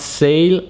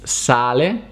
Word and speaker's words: sale: way as you've seen it's not sale it's sally but it's spelled the same the word sale pronounced